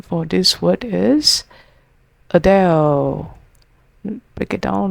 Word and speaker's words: Adele: The correct pronunciation for this word is Adele. Break it down like this. A soft starting sound. Adele. Rhymes with bell. Put it together. Adele.